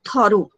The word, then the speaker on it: thorough: complex and thorough okay the pronunciation of this word is what toru toru means that sometime